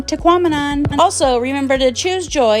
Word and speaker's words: Tahquamenon: just a little tip teamon rhymes with phenomenon so if you find yourself having a hard time saying it say phenomenon teamon also remember to choose